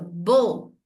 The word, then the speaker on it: beau: Tem ainda os irregulares, que são, por exemplo, l'adjectif beau, E-A-U, se pronuncia O.